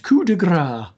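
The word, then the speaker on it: coup de grâce: Pronounced coup de grace.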